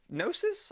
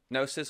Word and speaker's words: gnosis: prance this road properly serpent of gnosis I want to set as a silent G GN o s is